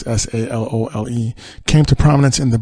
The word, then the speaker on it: Salole: I might be saying his name wrong. It's Salole.